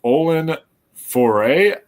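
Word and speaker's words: Olwen Fouéré: let me just say the actress's name is Olen foray that's how you say her name now if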